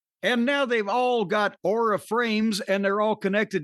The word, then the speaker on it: Aura: And by the way, it's Aura. Auror A, folks. See, I have no accent. I'm very neutral, so I can pronounce Auraframes.